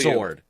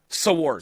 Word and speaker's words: sword: else makes no sense sword there's a w sword sword sword anyways you live by